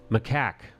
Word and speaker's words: macaque: Macaque.